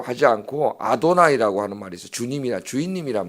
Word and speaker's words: 아도나이: 그래서 그렇게 자음을 붙여 자음에다 야훼라는 자음에다가 주님 아도나이의 그 모음을 붙여버리면은 발음이 어떻게 되냐면은 예호와 이렇게 발음이 돼요.